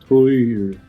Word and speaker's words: Týr: I'm the guitar player of Týr. Excellent pronunciation of Týr.